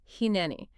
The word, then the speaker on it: Hineni: So phonetically, it's Hineni.